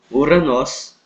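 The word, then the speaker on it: Οὐρανός: Então a palavra céu, em grego, Uranos, ok? Essa é a pronúncia.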